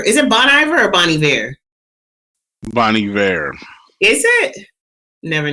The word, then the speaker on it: Bon Iver: I want you to know that Iver is spelled with an H, so that's why I thought it was Ivor.